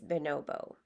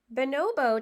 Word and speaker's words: bonobo: looked it up, and not everyone pronounces it the same way, but it looked like a common way to say it is bonobo.